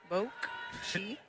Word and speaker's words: Bokchito: Bokchito.